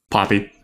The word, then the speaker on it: Poppe: Poppy.